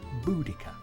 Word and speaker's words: Boudicca: is go back to her name which today we pronounce as buddika however for anyone watching this who was born before 1960 boa deia is the only way to pronounce this Warrior Queen's name so